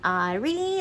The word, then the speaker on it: Ari: So this is I guess more American pronunciation would be Ari, like A-R-I.